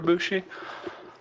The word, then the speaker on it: Bushi: Bushi.